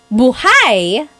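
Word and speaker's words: buhay: If you say buhai, the emphasis is on the second syllable.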